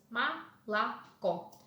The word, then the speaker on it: молоко: Молоко is pronounced as малако. Unstressed syllables, O is pronounced as A.